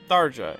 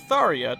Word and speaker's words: Tharja: address the fact that I'll be using the pronunciation darja in this video it is both because one I'm more accustomed to saying sarja than any other pronunciation and two it's seemingly